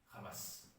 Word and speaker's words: Hamas: est sujette à discussion je je le prononce en hébreu ramas on m'a demandé dans un des débats le premier sur ce livre mais vous êtes sioniste parce que vous prononcez le mot Hamas avec le et non pas le ce sont les débats